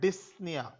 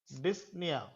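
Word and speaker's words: dyspnea: in breathing is called disia disia p is silent complete stoppage of breathing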